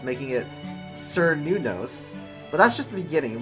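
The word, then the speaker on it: Cernunnos: Plus, the second and third syllables can be said differently, like Kernunos, Kernunos, Kernunos.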